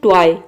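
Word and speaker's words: toy: यदि किसी वर्ड में ओ वाई एक साथ हो तो ओ वाई को आपको वाई प्रोनाउंस करना है, वाई। जैसे कि देखिए यहाँ पे है ट्वाई, टी का हो जाएगा ट और ओ वाई का हो जाएगा वाई, ये हो जाएगा ट्वाई।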